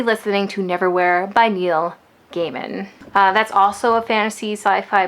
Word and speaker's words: Gaiman: It's Gaiman. So good to know I mispronounced his name during the entirety of the last vlog.